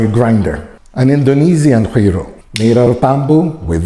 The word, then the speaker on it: guiro: Listen to the guiro. That's right, even if it's spelled with a G, it's pronounced like you're trying to do a loogie.